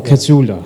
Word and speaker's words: Casula: Is that the correct pronunciation? Is it Casula or Casula?